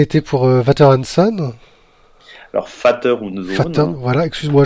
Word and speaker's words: Vater: Vater, hein, le V se prononce F, hein.